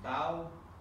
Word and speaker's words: bough: B-O-U-G-H is bow? Right. Bow.